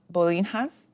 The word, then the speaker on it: Bolinhas: so these are called Bolinas Bolas I keep wanting to really pronounce the h in it it is b o